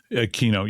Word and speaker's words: Quinault: How do you pronounce this? Is it Quinault? Quinault, yeah.